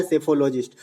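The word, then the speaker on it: psephologist: इसमें P silent होता है, पी से लिखा जाता है सेफोलॉजिस्ट।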